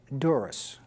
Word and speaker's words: Dzuris: this evening is Patricia Dzuris. And I did pronounce that correctly, yes, didn't I? you did. Thank you, Sam. Yes, there is a silent Z in there.